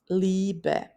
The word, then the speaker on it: Liebe: IE is pronounced like a long E, Liebe.